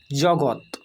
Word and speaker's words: জগৎ: তাই উচ্চারণ হবে সৎ দন্তেস্য খন্ডিত সৎ জগৎ বর্গের গ খন্ডিত জগৎ অর্থাৎ এই খন্ডিতটা উচ্চারণ